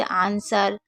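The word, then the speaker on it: answer: जैसे आंसर, sword, to. आंसर यानी कि जवाब, स्वॉर्ड यानी कि तलवार और टू यानी कि 2। तो यहाँ पर आपको W को साइलेंट रखना है, ठीक है।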